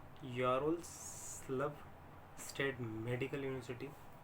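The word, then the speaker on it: Ярославль: फिर हमारी आती है Yaroslav state medical university, love silent है, LAVL है, तो यारोस्लाव स्टेट मेडिकल यूनिवर्सिटी, ये भी WHO और MCI से अप्रूव्ड है।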